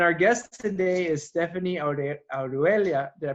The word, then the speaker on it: Orihuela: And our guest today is Stefanie Orihuela. Did I pronounce it right? Orihuela, yeah, almost. Almost there. Orihuela, who is a principal in non-operated joint ventures for BHP Minerals Americas.